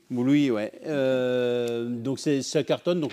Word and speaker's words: Bluey: Je ne prononce pas bien. Bluey. Bluey, ouais.